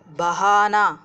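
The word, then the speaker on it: बहना: பெஹனா வழிய, பஹானா வழிய விட, பகுவானா வழிந்தோட செய்ய. இதில் ஒன்று கவனிக்கணும், எப்படி உச்சரிக்கணுங்கிறத, பஹனான்னு சொல்லுவோம் இருக்கிறத பெஹனான்னு நம்ம சொல்லணும், பேவும் ஹேவும் இருக்கும்போது பெஹனா அப்படின்னு நம்ம சொல்லிக்கணும். ஆனால் பேக் அப்புறம் அந்த ஹே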